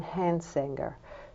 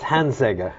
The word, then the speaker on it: Hansegger: the work of John hansinger so I think I mispronounced that word his name didn't I Mark it's hanser hanser well let me welcome